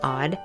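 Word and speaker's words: Awed: to welcome you to The Odd Life that's spelled a w e d which stands for awake well and empowered you see I feel that women who are living odd have such important stories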